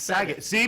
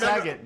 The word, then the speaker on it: Saget: no okay okay yeah I I said Bob Saget forever I said sag see Bam Bam I'm not alone it's sagot because Bob you're a